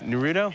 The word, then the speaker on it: Naruto: It's Naruto?